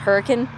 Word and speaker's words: Hurricane: it looks like the word hurricane but it's pronounced hurricane so i went ahead and i booked a